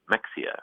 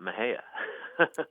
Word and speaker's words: Mexia: We have a funny town here called Mexia, and it's spelled Mexia. And I think if you're an out-of-towner or a Yankee, you might be tempted to say Mexia, right? Or some other. But townspeople call it Mexia.